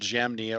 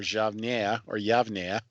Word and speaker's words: Jamnia: The primary guideline that was being used by the rabbis at a little town called Jamnia or Yavnia, depending upon one's pronunciation of the letter Y and J and so forth.